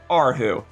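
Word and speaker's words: erhu: would be pronounced H who but it's actually pronounced aru and I brought this up in the previous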